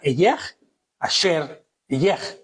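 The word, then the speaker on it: אהיה אשר אהיה: Y Elohim le dijo a Moshe, en hebreo se pronunciaría Eyeh, Asher, Eyeh, que significa yo seré el que seré.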